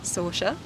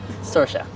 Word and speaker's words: Sorcha: Sorcha. I've never met a Sorcha before. How do you spell it? Sorcha. Sorcha, Sorcha. Sorcha. And then the CH makes more of a sh sound. Like Charlotte or something.